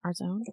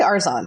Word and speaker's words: Arzon: instructor robin arzon arzone how do you say her last name arzone i say arson robin arzon okay this